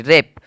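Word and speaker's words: wrap: देखिए डब्लू कुछ इस ऐसे ऐसे परिस्थिति में साइलेंट हो रहा है जैसे कि डब्लू ए आर पी रेप रेप मतलब होता है लपेटना रेप मतलब लपेटना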